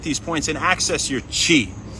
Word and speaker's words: Qi: And they try to stimulate these points and access your chee, spelled Qi, pronounced chi.